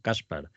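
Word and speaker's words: Gáspar: que llama Juan caspar caspar la primera lleva un acento en la primera Casper y te voy a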